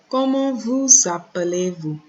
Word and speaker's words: Comment vous appelez-vous: And we know we have that z sound after vous appelez. We have that z sound because of the S coming before the vowel, which creates the liaison.